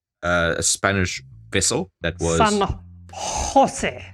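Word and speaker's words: San José: San Jose. San Jose. It's got to come from the throat. Thank you, Jotun. San Jose. San Jose. So... Well done on making Spanish sound French. San Jose.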